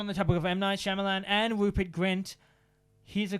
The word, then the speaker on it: Shyamalan: oh you leave I'll leave now I'm not Shyamalan hey that's how you pronounce it was offered to direct Harry Potter